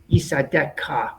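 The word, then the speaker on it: יִסְעָדֶךָּ: Now be very careful with our chaf sofit, because every now and then we have a dot in there instead of we have a dot in there. And the dot means it's actually a kaf sofit. Yisadeka. Yisadeka.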